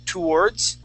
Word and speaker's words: towards: towards TS yeah yeah some people some people do pronounce the words the the word to wordss okay saying more of a two and then wordss um but you know there there isn't that big of a difference okay people will still understand you if you say uh towards uh but the way that I I learned the word is tour with TS okay okay and I